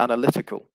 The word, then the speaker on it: analytical: word correctly um so the initial stress is on the first syllable it switches to the second syllable with the noun and the adjective form would be analytical and so the stress actually switches to the third syllable in this case so from Analyze to analysis to analytical so well done if